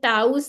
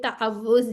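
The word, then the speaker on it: تعوذ: अच्छा, सबसे पहले तो ये देख लें, ये ताउज नहीं है, ये तावुज है। ठीक है, इसको प्रोनाउंस ठीक करना है, वाव 2 दफ़ा आ रहा है ना, ताउज, इसको सही कहना सीखना है।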